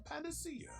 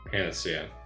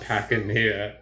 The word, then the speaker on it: panacea: Why would Hyzante hide the existence of so wondrous a panacea? Okay, so I am pronouncing that word right. Panacea.